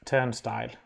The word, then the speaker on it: turnstile: backslash v dash and we usually pronounce it turn style uh and this this